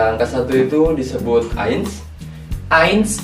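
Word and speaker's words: eins: angka satu itu disebut ains ains itu ada e sama i jadi bacanya ains ya guys ya betul angka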